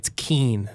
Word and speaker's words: Ken: pronouncing... Did you know that it's Keen, not Ken?